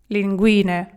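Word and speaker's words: linguine: Лінгуне. Лелінгу. Давайте одразу пишіть з артиклем тут. Лелінгуне. Окей. Наголос на і на ту на ту другу лінгуне.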